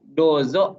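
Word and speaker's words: どうぞ: orang-orang Sunda 4 Z Itu pakai j jadi dozo yoroshiku nah ini yang barusan tadi kita coba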